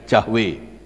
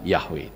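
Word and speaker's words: Yahweh: itu ada kata yahwe tapi kalau orang Batak biasanya nyebutnya jahwe ya tapi yang betul adalah yahwe tapi tetaplah masih rodok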